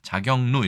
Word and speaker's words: 자격루: 자격루 이렇게 발음을 해야겠네요.